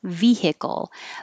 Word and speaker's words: vehicle: so um vehicle vehicle it is three syllables vehicle but you can kind of squish the middle one vehicle via vehicle chores